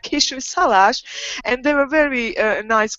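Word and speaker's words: Kisújszállás: It's called Kisújszalás, and you have to stress it like this, like Kisújszalás.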